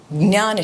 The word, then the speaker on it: ज्ञान: ध्यान नहीं, ज्ञान. ज्ञान. हाँ, ज्ञान शक्ति, जिसको ज्ञान शक्ति बोल लीजिए. बट लेकिन वो अल्फाबेट ऐसा है कि ज्ञान, ऐसा उसकी प्रोनाउंसिएशन है.